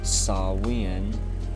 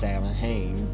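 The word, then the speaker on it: Samhain: All Saints and you were also known as saw win um some would say that it's pronounced salahane but it's a different culture and language so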